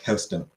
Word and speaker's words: Houston: that sounds pronounced uh that's how the street name is pronounced in New York there's a New York uh there's a street in New York Houston who's Bob Denver Bob